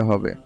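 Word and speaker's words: ح: ক্ষেত্রে মনে রাখতে হবে এটা বাংলা হা এর মত করে উচ্চারণ করা যাবে না আপনাকে প্রথমে মুখ থেকে বাতাস বের করে নিতে হবে তারপরে আপনাকে হা বলতে হবে তখন এটার উচ্চারণটা এরকম শোনাবে হা আমি আবার বলছি বলছি হা কথাটা আবার বলে দেই যে প্রথমে আপনাকে অবশ্যই বাতাস বের করতে হবে তারপর আপনি সেই সাথে হা উচ্চারণ করবেন হা আমি আবার বলছি হা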